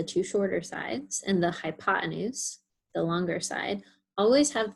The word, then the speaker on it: hypotenuse: You might also sometimes see it spelled with one more E. So sometimes spelled hypotenuse with an extra E in there. Pronounced the same way either way, hypotenuse.